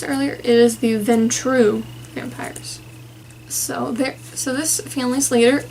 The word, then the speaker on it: Ventrue: Oh, I mispronounced it earlier. It is the Ventrue vampires.